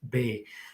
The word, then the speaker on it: Bex: there's a town called bay and it's spelled b-e-x and it's pronounced bay so actually martina told